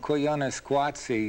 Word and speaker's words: Koyaanisqatsi: Is that how you would pronounce it? Koyaanisqatsi, yes.